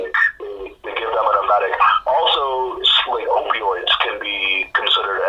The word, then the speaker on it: emetic: It's Emetic.